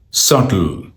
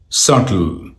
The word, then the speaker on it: subtle: this word pronunciation here. Subtle. Subtle.